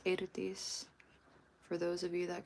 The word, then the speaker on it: Eirdís: It's Eirdís. For those of you that can roll your R's, and if you can't, it's all good. Yeah, so the EI is pronounced A in Icelandic.